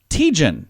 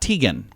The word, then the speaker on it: Teigen: okay Chrissy Teigen uh she says it's tejan not Tegan oh or taijin taijin